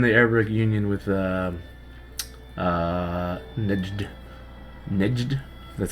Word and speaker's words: Nejd: Nejd. That's how you pronounce it.